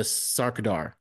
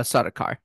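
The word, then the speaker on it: Sardaukar: traes was attacked by the heinens and the saradar did I pronounce that right uh sakar sakar oh so close see you need that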